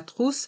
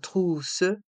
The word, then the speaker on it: trousse: les effets secondaires la trousse à pharmacie la trousse à pharmacie dans le mot trousse le O et le U se prononce ou la Crousse a pharmacie